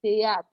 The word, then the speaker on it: théâtre: We have the word théâtre. T. T. The H is silent.